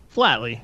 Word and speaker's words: Flatley: thanks for having me am i pronouncing that right flatly or lately flatly flatly okay yeah yeah like flatly earthly okay remind the audience